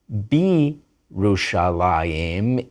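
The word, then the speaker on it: בירושלים: You don't pronounce the y, and you use a chirek, an e vowel. It's Yerushalayim, but Bi-Rushalayim in Jerusalem, Ki-Rushalayim, like Jerusalem, Li-Rushalayim, to Jerusalem, and even Vi-Rushalayim, and Jerusalem.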